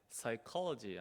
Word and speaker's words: psychology: the pronunciation is yeah psychology psychology so this P sound is a silent so we ask a